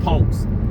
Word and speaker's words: ponks: And I don't mean Well, let me say it like Funky Dineva said, y'all some ponks, not punks, not p u n k, y'all some ponks with a o, p o n k.